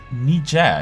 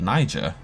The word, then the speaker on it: Niger: and hunting for fish nija it's how you pronounce it i always call it niger huh maybe i've learned